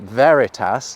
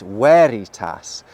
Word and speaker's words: veritas: Any classical Latin words that look like they have a V actually have a W sound. So, this word isn't veritas like we might think it is, it's veritas.